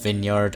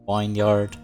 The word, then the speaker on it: vineyard: after recording the episode it's pronounced vineyard and not wine yard please don't be too